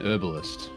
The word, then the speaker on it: herbalist: And the person who wrote the script speaks and says an herbalist and doesn't pronounce the H. Oh, right, Which I think yeah. is an American thing.